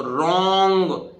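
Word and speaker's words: wrong: है इसी तरह देखिए डब्लू के बाद आया हुआ आर भी गड़बड़ करता है डब्लू को चुप करा देता है अत डब्लू साइलेंट रहता है इसका मतलब डब्लू का उच्चारण नहीं होगा तो रंग जब डब्लू का नंबर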